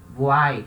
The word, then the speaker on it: voyelle: Esse Y I vai ter som de I, voai.